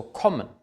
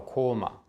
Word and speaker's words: kommen: kurz und geschlossen ausgesprochen es ist also kommen kommen es ist nicht kommen oder koma es ist kommen ein geschlossenes kurzes vor einem doppel konsonanten oder essen nicht essen